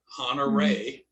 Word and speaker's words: Honoré: It's French. It has its emphasis is on the last E, honoré. Okay. That's why it's got that little thing over the E.